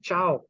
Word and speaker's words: ciao: car C at one the same you say ciao c-i-a-o ciao is high or bye it was